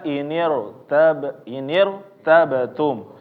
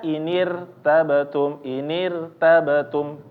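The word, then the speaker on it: ارتبتم: Contohnya adalah misalnya di sini ada inir tabatum. Nah, jadi jangan membacanya inir tabatum, irtabatum. Nah, ini tipis. Tapi dibaca tebal, lidah nggak nyantai.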